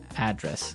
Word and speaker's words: address: And there the stress is on the first syllable address.